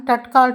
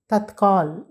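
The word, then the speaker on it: तत्काल: ரயிலில் டிக்கட் வாங்குகின்றோம் அல்லவா த்கால் தற்கால் என்பதைதான் ட்கால் ட்க்கால் என்று கூறுகின்றார்கள் அது ட்கால் அல்ல தற்கால் ஆங்கிலத்தில் அப்படி போடுவதனால் உச்சரிப்பதற்கு அப்படித்தானே போட முடிகின்றது எனவே அதையே டேட் கால் என்று கூறிவிடுகின்றார்கள் அது தற்கால் என்று சொல்ல வேண்டும் துரந்த் அல்லது தற்கால் சரியா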